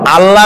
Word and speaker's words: আল্লাহ: বলেন কি গুণাবলীতে বিশ্বাস আল্লাহর নাম আল্লাহ বলেনতো আল্লাহ নয় কিন্তু আল্লাহ হচ্ছে অশুদ্ধ শুদ্ধ হচ্ছে আল্লাহ